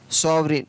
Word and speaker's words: sovereign: तो सभी में आप देख रहे हैं कि GN किसी भी शब्द के शुरू में हो या लास्ट में हो, वहाँ पर जी को नहीं पढ़ा जाएगा, जी को उच्चारित नहीं किया जाएगा।